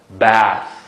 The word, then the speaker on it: bath: Va th qanday telaffuz qilib mishara? Da. Ko'rdingizmi? Va tishlaringlar bilan tilni tishlaringlar. Da. Bath.